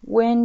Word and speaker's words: when: هنا when you see a red light. when كلمة when عندنا الإتش لا تنطق.